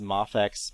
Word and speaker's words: Mafex: also have the the I think it's pronounced mafex but it stands for miracle action figure uh and those or